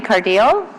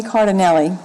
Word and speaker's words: Cardinelli: Ms. Cardile, Carvendale? I know I didn't pronounce that correctly, so please state your name and your address. My name is Cardinelli. Cardinelli. I'm here on behalf of my 86-year-old mother, Vera Cardinelli.